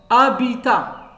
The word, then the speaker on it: habitat: c'est un roseau hirondelles habitat habitat les maisons les appartements sont d habitat habitat habitat si le lieu où on habite à bi tah le thé ne se prononce pas la fin maintenant le s es